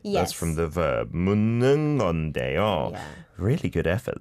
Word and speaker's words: 묻는: And actually, 묻는, you don't need to pronounce the 디귿. It just mixes with N. I mean, 니은. So it just becomes 묻는 건데요.